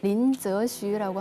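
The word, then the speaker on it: 林則徐: 그 임칙서 그 중국 발음으로 린저슈라고 하는데요.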